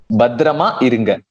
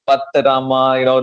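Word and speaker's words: பத்திரமா இருங்க: When people really don't know Tamil, so they find it difficult to exactly pronounce the way that it's said. But you just got in the first try. Badrama irunga. If it was someone else, it'd be like Patarama, that kind of the shaky thing happens.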